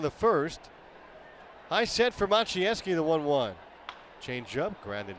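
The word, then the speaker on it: Maciejewski: Machinesi. It's spelled m a c i e j e ws ki. If you can't pronounce that, you can't figure out how you get Machi from that.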